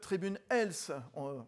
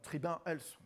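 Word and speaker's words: Tribun Health: Jean-François bonsoir CEO de tribune els voilà tribun els plutôt on va le prononcer à la française à vos côt côé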